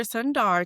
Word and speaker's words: Sundar: Sundar today. Am I pronouncing that correctly?